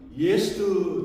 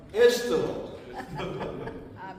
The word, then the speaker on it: 에스더: 제가 이 발음에도 상당히 좀 무리가 있었던 것이 무엇이냐면 저는 예스트 자꾸 그렇게 발음이 되더라고요. 그래서 사모가 그러더라고요. 예스트가 아니라 에스트라고. 그래서 저는 수십 번 연습을 했습니다. 정확하게 잘 들리실지는 모르겠지만 에스터, 그 에스터 정말 고아이신